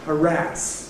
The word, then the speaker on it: harass: And the red line is one which tends to upset older people ‘harass’ giving way to with final stress.